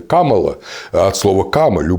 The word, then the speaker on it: Kamala: А имя-то оно не Камилла, оно же индийское имя Камала.